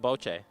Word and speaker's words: bocce: Did you know it was called boche? No, I've been mispronouncing it my whole life.